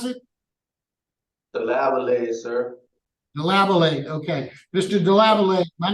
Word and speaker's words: Delavallade: number good morning Marian deav 42 3278 Mr DAV is that how you pronounce it DAV sir deabate okay Mr dealate my name is